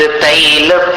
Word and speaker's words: तैल: निर्धूम वर्ति रपवर्जित तैलपूरः। तैलपूरः मत बोलना, तेल हिंदी शब्द है, संस्कृत में उसको तैल बोलते हैं।